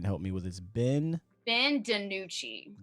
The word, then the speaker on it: DiNucci: of the 7th round, and I can't even pronounce his name. If somebody can help me with it, Ben DiNucci. DiNucci.